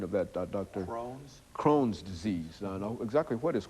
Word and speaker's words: Crohn's: checked we've heard of something that is called Cronin disease is that the correct pronunciation of that drct Crohn's Crohn's disease exactly what is Crohn's disease and